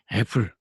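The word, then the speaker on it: Apple: 근데 실제로 잡스나 애플 컴퓨터에 있는 양반들이 발음하는 걸 들어보면 애플에 가깝죠. 애플. 이수아 씨가 바닥 울린 소리를 잘해. 이런 걸 자랑하려는 게 아니라 입이 완전히 버리는 AE는 한국어에 그 발음이 없습니다. 그러니까 한국에는 E가 있고요.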